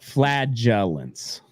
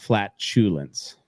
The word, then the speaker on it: flagellants: No, flagellants, not flatulence.